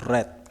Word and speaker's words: read: Ah, ini bacanya bukan read ya. tapi red karena udah ada have atau yang kita sudah omongin kemarin yaitu perfect.